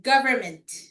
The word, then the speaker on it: government: Government. Government. So me silent na. So you're you're just gonna say government.